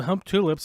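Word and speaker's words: Humptulips: It's called Hump Tulips, and that's how you say it.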